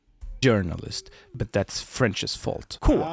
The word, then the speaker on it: journalist: We say j journalist. But that's French's fault. Cool. Which So you actually do pronounce the J like that in journalist.